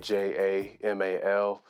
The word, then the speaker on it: JVMAL: It might look like a V, but it's just A upside down. So it's pronounced Jamal.